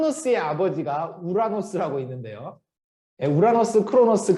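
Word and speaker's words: Uranus: 아버지가 우라노스 라고 있는데요 우라노스 크로노스 그 다음에 재울 수 이렇게 나가요 근데 그 크로노스 라는 분이 우라노스 영어 발음은 유에너스 라고 있는데 보통 그거를 이제 그냥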